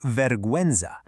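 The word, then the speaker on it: vergüenza: Let's look at an example here in the word veruenza. You can clearly hear that u sound. Veruenza. Same with binguino, which is binguino. Those two little dots literally give the u its voice back.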